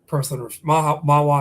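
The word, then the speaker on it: Mahwah: He is Mawa, excuse me, that's the right way to say it.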